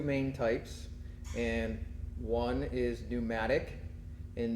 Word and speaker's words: pneumatic: There are two main types, and one is pneumatic, and pneumatic begins with a P. P is silent, but that means they run on air pressure.